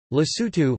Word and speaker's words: Lesotho: Lesotho, listen, Sotho pronunciation, LST, officially the Kingdom of Lesotho, Sotho, Muso Oa Lesotho, is an enclaved country within the border of South Africa.